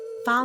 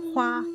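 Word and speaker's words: 花: "Fa Mulan" combines two different Chinese pronunciations of her name. This particular family name, which was introduced in later variations of the ballad, would be pronounced "Hua" in Mandarin.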